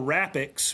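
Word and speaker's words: RAPX: We we did we created uh what we call Rapix, which is that that's a Latin word for predator. Rapex. We we spell it R A PX, but rapics is is the actual word.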